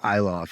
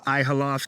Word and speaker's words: Ihloff: funny because you know my last name is eoff it's actually kind of hard to pronounce if you look at it it's IH L FF and I've gotten everything from ihof to eloff to you know whatever inhoff sometimes people say um